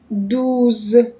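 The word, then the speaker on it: douze: عن طريق اول حاجه بنطق الكلمه فالكلمه عندي نطقها دوز دوز دوز دوز دوز دوز فانا اول حاجه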